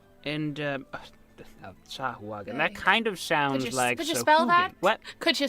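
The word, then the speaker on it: sahuagin: shark like fish creatures I think they're called sahu wagen and um sahagan that kind of could you spell that could you spell that uh s a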